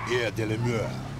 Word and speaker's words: Air de la Mer: I'm gonna call it Air de la Mer. You gotta say it like that, like you French. Air de la Mer.